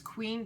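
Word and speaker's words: Qveen: that brand called qv it's queen but it's spelt with a v q v een and it is beautiful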